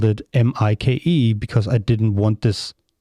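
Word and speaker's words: Maik: know I you know my name is Mike but it's like um it's spelled m-a-i-k so most people in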